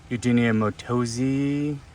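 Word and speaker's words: Eugenia mattosii: going to be bushier too one of my Eugenia matosiah someone uh I saw on YouTube says Eugenia motosi that's the correct pronunciation so go for it however you want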